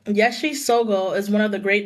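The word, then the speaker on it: Yeshe Tsogyal: And it says Yeshi Sogo is one of the great Dakinis in Buddhist history. And Yeshi, if you guys want to look it up, is spelled Yeshe and then Tsogyal.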